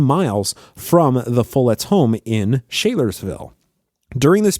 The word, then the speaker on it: Follett: the name King Follett, which leads me to believe it's Follett, not Follett, as many people will say the King Follett Discourse.